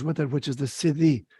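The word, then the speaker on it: siddhi: word that goes with it which is the city it's spelled s-i-d-d-h-i so sadhu is s-a-d-h-u and that's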